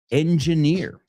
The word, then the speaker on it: engineer: So let's say it in English. Engineer. Suena como decir motor oreja.